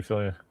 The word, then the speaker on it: Fillion: I honestly think that if that show went longer, how do you pronounce his last name? Fillion? Is that Nathan? Yeah. Nathan Fillion.